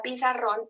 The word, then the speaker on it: pizarrón: Entonces, fíjense acá tenemos en la palabra pizarrón el ejemplo. Pizarrón. Fíjense que yo hago siempre una fuerza más en la última sílaba.